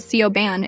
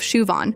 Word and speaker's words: Siobhan: There's Siobhan, who gets called Sioban instead of Shuvon. And Guuan, who she pronounces like New Jen instead of Win.